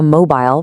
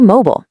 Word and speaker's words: mobile: Next, your phone isn't a mobile rhyming with smile. Just say mobile.